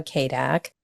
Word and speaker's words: CADC: the podcast will know I'm a kak which means why I know it's weird pronunciation of the four letters c a DC but it's a certified